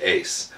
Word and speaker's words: UYS: And yes, UYS is pronounced Ace.